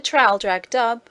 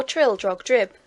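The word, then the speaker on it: Traldragdubh: and my retinue to tral drag dub or Trill drog drip for it is pronounced both ways as near as I can remember by a party of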